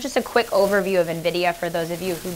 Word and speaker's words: Nvidia: know it spelled super where it weird it's pronounced Nvidia I don't know if you guys have heard